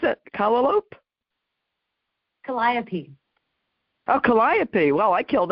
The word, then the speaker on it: Calliope: And she becomes, she wants to be called by her full name, which is, how do you pronounce it? Calliope? Calliope.